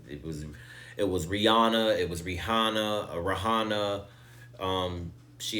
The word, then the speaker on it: Rihanna: of befitting that we discuss the Rihanna Bowl, as I've been calling it, or the Fenty Bowl, the halftime show that Rihanna just did a week ago.